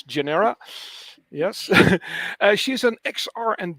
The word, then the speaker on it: GNR3RA: And with me is Lili Eva Bartha, founder and CEO of GNR3RA, which I think you should pronounce as Genera.